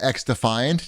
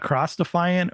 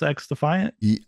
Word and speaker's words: XDefiant: get you there it's it's not cross defiant or any it's it's pronounced X defiant I think I've never heard